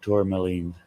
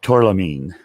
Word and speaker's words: tourmaline: rain i love black tourmaline and i'm lucky i didn't do it this time but i i end up pronouncing it torlamine and it's tourmaline i come backwards okay